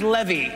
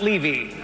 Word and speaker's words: Levy: But if it goes well tonight, my name is pronounced Levy, not Levy.